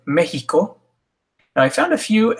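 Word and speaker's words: México: X, same as the J, Mexico.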